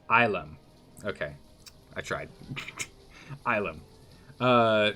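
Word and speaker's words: ylem: of the day is ilum pronounced islam okay i tried islam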